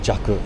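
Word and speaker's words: 弱: The kanji for strong and the kanji for weak, they're pronounced cure and jaku respectively.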